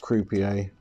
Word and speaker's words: Croupier: Got some new wheels from Croupier, I believe is how it's pronounced. Croupier, like the guys at the casinos, and they are 51mm.